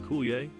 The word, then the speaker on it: Coulier: Dave Coulier, known for his role as Joey Gladstone in Full House, is pronounced Coulier.